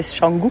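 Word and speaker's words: Canggu: Donc ça c'est Shangu. Alors il dit Shangou mais ça s'écrit C A N G U.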